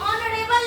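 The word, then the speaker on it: honourable: Silent है। वहां पे हम पढ़ते हैं उसको ऑनेस्ट। वैसे ही ऑनरेबल लेडी।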